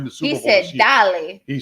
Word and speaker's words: dale: So if you see Dale, don't think it's like Chippendale. It's Dale.